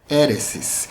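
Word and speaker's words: αἵρεσις: heresia do grego heresis a pronúncia no Grego é heresis que significa literalmente escolha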